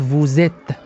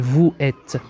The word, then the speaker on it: vous êtes: لاحظوا أنني قمت ب la liaison أو عملية الربط بين s و e، فقلت vous êtes ولم أقول vous êtes.